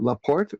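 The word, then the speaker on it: La Porte: Christina in is it Laporte or Laporte or what? How do you pronounce that in Texas?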